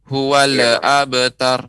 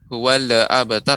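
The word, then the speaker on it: هو الأبتر: Yaitu pengucapan lam tidak boleh dipantulkan. Huwal abtar. Ini enggak boleh. Huwal abtar, akan tetapi harus benar-benar kita matikan.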